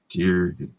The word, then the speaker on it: Deere: Deere is actually how it's said. 1 E, 2 R's instead of 2 E's and 1 R.